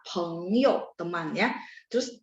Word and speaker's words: 朋友: Jadi P bacanya PH ya, misalnya ketemu 朋友 saya suka bilang P baca PH 朋友 teman ya.